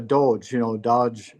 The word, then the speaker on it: Doge: If there can't be auditing, you hear about the Doge, Doge, people Yeah, pronounce it Dodge.